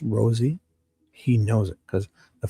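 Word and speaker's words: Rozzi: And I pronounce it Rosie, like the rose, like a kissed fry thorn from a rose.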